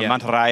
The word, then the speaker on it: mantarraya: It's only like the deep South American where they turn the Y into an SH sound.